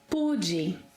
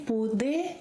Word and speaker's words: pude: In the past, eu pude. You can say pude or pude. Yes, this final E sound in unstressed syllables can be pronounced as E.